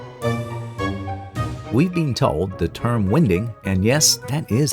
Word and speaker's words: winding: We've been told the term "winding" and yes, that is how it's pronounced, came about from the horse-drawn narrowboats using the wind to help them turn around.